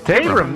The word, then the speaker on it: Tabram: So the first person that we're going to talk about, her name is Martha Tabram. I believe is how you pronounce her last name. Or Tabram. Tabram? Tabram.